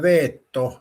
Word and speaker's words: veto: It's pronounced veetto because it's Latin and means I forbid.